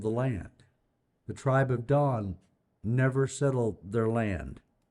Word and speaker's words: Dan: the area of dawn I'm told that's pronounced Dawn we always say Dan because Dan's a word that we